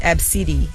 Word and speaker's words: ABCDE: Somebody's name is ABCDE, pronounced Absidi.